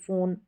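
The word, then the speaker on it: phone: यहां पर देखेंगे में हम फोन में एफ क्यों नहीं लिखते एफ ओ एन ई फोन यहां पर फ फ के लिए हमने पीएच लिखा है क्यों लिखा है रूल्स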